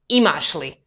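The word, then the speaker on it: imaš li: for the negative particle even though it's written separately you pronounce them as one word imashli tu yeshli or for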